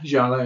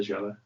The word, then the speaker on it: Giallo: I want to say Giallo. Tess, what's your views on that? Is that exactly what you would pronounce it with? Yeah, Giallo, yeah. I'd say Giallo. Just make it sound as Italian as possible.